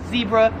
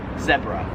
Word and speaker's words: zebra: I would pronounce this, Americans would pronounce this as zebra. However, in Australia they pronounce it zebra.